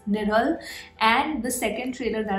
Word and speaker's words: Nizhal: the pronunciation is correct it is nidal right the zed edge is pronounced as her so the name of the film is nidal and the second trailer